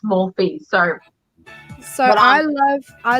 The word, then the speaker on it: Morphe: how you pronounce it i say more more than i've been corrected it's morphy so so i love